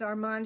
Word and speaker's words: Armand: it's lat and Louie is Louie the French pronunciation of Louis Armand is of course Arman Marius is Marius I'm